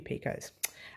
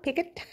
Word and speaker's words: picot: Someone keeps correcting me and saying it's picot, not picot. So I do apologise if I say picot, guys, but it is picot. It's spelt picot, but it's pronounced picot. So there you go.